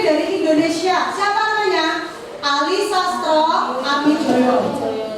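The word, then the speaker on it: Sastroamidjojo: Ali Sastro Amijoyo. Tulisannya Mijojo, tapi bacanya Mijoyo ya.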